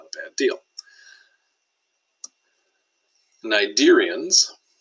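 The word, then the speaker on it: Cnidarians: not a bad deal nidarians no c sound that's a hard one that's one of the reasons i have to go through the slide here because you probably wouldn't pronounce it that way soft bodied carnivorous animals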